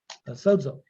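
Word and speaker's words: σῴζω: Sozo.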